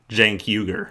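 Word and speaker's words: Cenk Uygur: founder chenk uh and socialist it's jankyuger it's pronounced jankuger you're a commentator and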